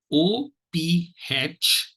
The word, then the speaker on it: ophthalmology: And this word divides itself into 5 syllables. They are, syllable 1 is off, syllable 2 is thal, syllable 3 is mol, syllable 4 is and syllable 5 is g. Syllable 1 is off, thal, mol, g.